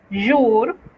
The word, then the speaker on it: jour: La J se pronuncia como Y. Es por eso que cuando hablamos del día decimos jour y no jour, ¿verdad?